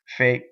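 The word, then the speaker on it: fé: Fe.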